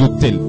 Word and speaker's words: autel: Aujourd'hui, on va parler des autels. Autel, ça s'écrit A-U-T-E-L. Ça n'a rien à voir avec autel H-O-T-E-L. Même si les deux se prononcent de la même manière, ici nous sommes dans un cadre spirituel.